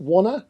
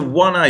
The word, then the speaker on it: WannA: us a bit of background about is it WannA? Is that how you pronounce it? Yeah, exactly. Okay. WannA.